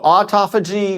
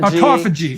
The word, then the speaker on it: autophagy: that again how do you say that so autophagy mitophagy autophagy it's and mitophagy yes okay so you want